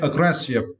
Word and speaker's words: aggressive: For this word, you need to stress the second syllable, grass. Okay, aggressive.